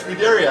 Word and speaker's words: Scuderia: That's Scuderia, I said it right.